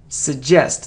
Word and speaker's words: suggest: it isn't suggest and it isn't suggest it suggest like suggestion like suggestion suggest a a suggest it isn't item item